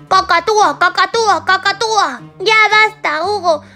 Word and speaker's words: cacatúa: eso ha sido bueno cocoatúa es difícil de pronunciar Malú mal Eso no se dice cacatúa cacatúa cacatúa Ya basta